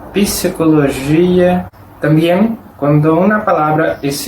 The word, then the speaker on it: psicología: Significa que en algunas palabras que la letra P en español no es pronunciada, en portugués sí, ella es pronunciada. Como por ejemplo, psicología.